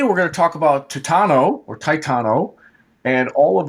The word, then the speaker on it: Titano: to say this stuff titano is good i call it titano just seems like that